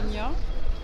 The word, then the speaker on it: Dénia: Bon, ça s'écrit D-E-N-I-A. Voilà. Dénia.